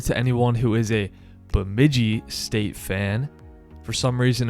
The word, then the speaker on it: Bemidji: anyone who is a bemidji state fan for some reason in my head i thought the way to pronounce it was with a silent j but i appreciate those